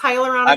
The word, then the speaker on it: hyaluronic: all of this stuff no you said it right it's hyaluronic good morning I'm learning